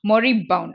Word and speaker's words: moribund: Okay, so next one இஸ் மொரிபவுண்ட். Okay, so இது எப்படி pronounce பண்ணா மொரபவுண்ட் ஓகேயா.